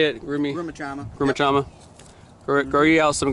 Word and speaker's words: Grumichama: Grumichama. Yep. Grow you out some Grumichama.